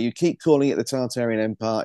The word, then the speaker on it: Tartaria: people say it's pronounced tataria but in in England for whatever reason we we use the r we're pronouncing the r and I can't stop